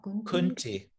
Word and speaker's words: Kunti: Therefore, O son of, how would I pronounce that? Kunti. Kunti.